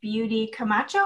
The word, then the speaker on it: Beaudy Camacho: I'm Crystal Castle, and I'm here today with the amazing Beaudy Camacho. Is that how you say it? Yes, that's actually correct.